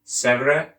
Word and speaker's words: Sèvres: Unsuccessful Treaty of Sèvres, French pronunciation is Sèvres, August 1920.